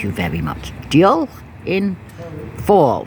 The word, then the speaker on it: fawr: very much deal in fall fall for the F pronounced like a V anyway I was saying